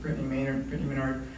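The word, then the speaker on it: Brittany Maynard: Like Brittany Menard, that's how her husband pronounces it, Brittany Menard.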